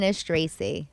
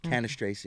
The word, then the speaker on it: Cannistraci: let's try it what is your last name canish Tracy canish Tracy now that the camera's on me I feel like I can pronounce it better canish Tracy there you go so you're standup a lot